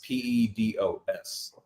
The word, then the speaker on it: pedos: It's I was about to speak to you in Spanish actually, but um really the way you spell you spell it is P E D O S.